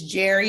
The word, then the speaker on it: Njeri: Hi, it's Jerry. The N is silent.